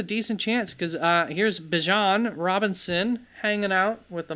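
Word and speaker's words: Bijan: By the way, if you're wondering why I'm saying it like that, Bjon is how it's pronounced. He himself has said it is Bjon, not Bejon.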